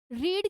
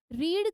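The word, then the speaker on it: read: यहां पर रीड की प्रोनंसिएशन अलग हो जाएगी बट स्पेलिंग सेम ही रहेगी। रीड का आपका यही रहेगा।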